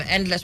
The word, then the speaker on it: Endlex: What's Endless? Endless? Yes. Endless, right? Because I'm saying X there. Yes. So it's actually pronounced, spelled ENDLEX. Correct.